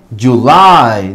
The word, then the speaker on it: July: Decimos July, no Julie. July, julio.